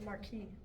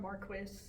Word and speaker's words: Marquis: The marquee. And it's Marquee, not Marquis. I mean, unless you want to pronounce it like people here say Marquis, I think.